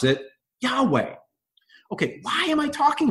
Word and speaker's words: Yahweh: to pronounce the word Yahweh, right? Because it's actually in the text, it's just YHWH, right? But what they gave us was the ability to pronounce it Yahweh.